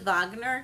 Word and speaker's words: Wagner: Richard Wagner which is I think it's pronounced vogner because it's um it's German and so they don't